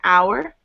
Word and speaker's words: hour: So, because the H is silent in our, we an hour, not a hour, an orange.